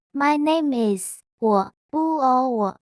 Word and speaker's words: 我: 我叫叫 My name is 我是第三声，叫叫是第四声。例如，我叫 Amy，My name is Amy。你可以叫我 You can call me。